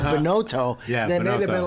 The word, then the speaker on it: Binotto: called it all you know Bono it's it's pronounce it for us now boto boto yeah see if we just said Chris